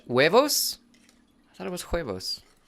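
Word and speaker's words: huevos: Cletus, the H is silent in Spanish. Wuevos.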